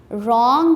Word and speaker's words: wrong: Wrong में also first letter W is silent.